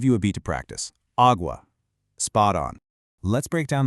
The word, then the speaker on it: água: It's pronounced agua, nice and open. Let me model that one more time and give you a beat to practice, agua.